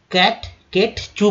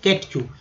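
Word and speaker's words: catechu: तो देखिए इसे केट चू बोलेंगे, ठीक है, केट चू। ए के बाद जैसे ई आया है तो ए का उच्चारण जो है ए के रूप में नहीं होकर ए के रूप में होता है, केट चू, या कटे चू भी लोग बोल देते हैं कभी कभी, लेकिन केट चू याद रखिएगा।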